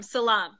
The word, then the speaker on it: salam: Salam, salam. You know, like you say shalom. Yeah. You say shalom, right? Okay, so this is salam. Salam. Yeah, kind of like salami, but salam. Salami without the me.